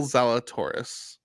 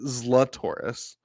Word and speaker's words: Zalatoris: Will Zalatoris. He's my favorite golfer. I know you prefer to pronounce it Zlatoris.